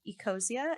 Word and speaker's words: Ecosia: Well, I would like to say um during my research I did find uh a program called Eosia and I looked it up and that's how you pronounce it.